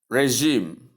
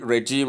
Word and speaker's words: regime: The sound here is pronounced as J, not G. J, not G. CG here. Let's take it. CG here. That is this one. But this other one is J, J, as in pleasure, pleasure, measure, leisure, and so on. But G, as in judge, jog, and so on.